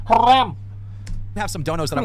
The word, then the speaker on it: haram: that definitely is not Haram what I'm saying uh guys we you said it wrong it's Haram have some donos that